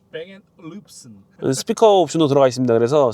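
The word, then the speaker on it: Bang & Olufsen: 원래 발음이? 뱅앤룹슨.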